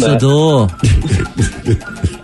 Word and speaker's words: Sodor: It's pronounced Sodor.